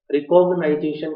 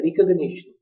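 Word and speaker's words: recognition: रिकॉग्निशन, रिकॉग्नाइजेशन प्रोनाउंसिएशन नहीं है, रिकॉग्निशन। दोबारा फिर सुनिए, रिकॉग्निशन क्वेश्चंस, क्वेश्चन नहीं है, क्वेश्चंस जो प्रीवियस नॉलेज के बेस पर होते हैं।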